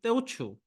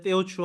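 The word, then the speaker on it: Teochew: 그리고 이 단어의 만다린, 그러니까 지금의 중국 보통어의 발음으로는 후젠, 광동, 저쪽 커지아, 하이난이지만 그들의 방언으로는 호키엔, 캔터니즈, 떼오추, 하카인 거예요.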